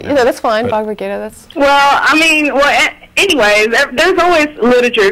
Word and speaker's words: Bhagavad Gita: religion that depends on the Quran or the Bhagavad Gita or right? Yeah, stuff. The Vedas, Upanishads. Yeah, I said it wrong. Yeah, that's fine. Bhagavad Gita.